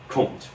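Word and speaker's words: Comte: And that's the only way that's the only time I'm going to call him K. Okay. That's the French pronunciation. I don't know if you've noticed I'm not French. I'm I'm Texan. Okay. So I speak like a Texan.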